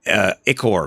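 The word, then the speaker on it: ichor: I've always been pronouncing Icor, like Icker, like ew, it's icky. But it's actually pronounced. If you really want to do it the right way, it's pronounced Icor.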